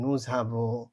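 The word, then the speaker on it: nous avons: আর এটা হচ্ছে আভ নু আভ কিন্তু একসাথে উচ্চারণ হতে করার সময় হয়ে যায় নুঝাবো নুঝাব মানে হচ্ছে উই হ্যাভ ইল এল এটা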